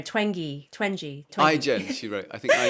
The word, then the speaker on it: Twenge: Oh yes, gosh, I always forget how to pronounce her name. Twenge.